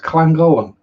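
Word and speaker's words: Llangollen: l l e n how can that be pronounced clangolan huh there's no k in it we'll see where they get that from it's welsh it's a different language yes one of them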